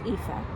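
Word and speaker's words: Aoife: very long time um paid homage to uh EPA uh this is an Irish an Irish name a goddess name aoi f it's pronounced epha and there are two epas in Irish and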